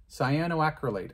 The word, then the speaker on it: cyanoacrylate: this scio i'm getting better at the name cyanoacrylate cyanoacrylate i think i'm going to stick with that pronunciation that's what it is there's the right